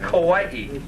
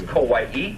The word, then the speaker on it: Kauai: provided for you okay starting with Kauai that's how you pronounce the island that we'll be at tomorrow morning is Kauai it's called The Garden